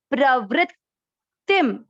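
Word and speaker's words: प्रवृत्तिम्: प्रव्री आधा त, प्रवृत्तिम, प्रवृत्तिम। देखिए इस पे आप स्टॉप करेंगे क्योंकि ये आधा अक्षर जो होता है ना, तब ये इसका उच्चारण प्रॉपर बैठता है।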